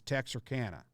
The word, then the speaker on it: Texarkana: been looking at this the authentic way to pronounce it as text or Kanna okay what was I saying Tech sarcana Texarkana I appreciate the help